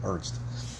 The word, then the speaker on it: Ernst: Anyway, um Oh, and for the record, it's pronounced Ernst, just one syllable. Ernst. So, uh, yeah, it's it's German.